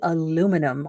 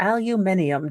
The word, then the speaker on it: aluminium: as tce or maybe aluminum or aluminium depending on you know how you say it I I wouldn't go